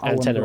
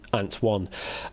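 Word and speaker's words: ANT1: Antenna is literally known as antenna rather than Antwan. Uh yeah, the name is derived from the Greek word for one being Anna. Hence it is pronounced as antenna.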